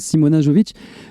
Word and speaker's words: Simona: Donc voilà, si vous voulez apprendre à danser, et puis surtout respirer la joie, voilà, il faut rejoindre Simona Jovic. Simona Jovic. Merci. Parce que le J se prononce Ya.